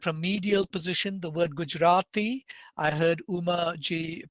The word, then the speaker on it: Gujarati: its own speakers say gujarati gujarati not a strong retroflex it's kind of post alveolar but 49 such tokens